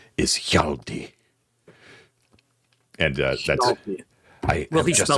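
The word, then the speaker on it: Hjalti: and he uh he says my name is yaldi and uh that's I just enough breath to spell it for you h h j a l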